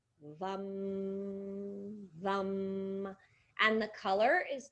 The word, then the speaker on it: VAM: The mantra relating to this center is VAM, V-A-M, but it is pronounced V-U-M, VAM, VAM.